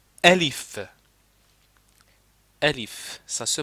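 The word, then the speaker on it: ألف: C'est pas on ne dit pas aif non, on dit. OK, donc ça c'est la le premier truc de prononciation. C'estàdire quand quand je vous dis, il faut dire élif comme ça. Elif. Donc quand je vous écris alif, donc voilà, ça c'est alif, il faut prononcer alif.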